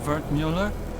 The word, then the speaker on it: Wertmüller: Cut-up version of Wertmüller. It's German, from my father. He said to always insist on the umlauts. Otherwise people butcher the pronunciation.